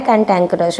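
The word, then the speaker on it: cantankerous: है word okay तो cantt कैंक कंट कैंटक कैंटैंकरस बोलते हैं इसको सही इसका प्रोनंसिएशन है कैंटैंकरस ओके तो कैंटैंकरस होता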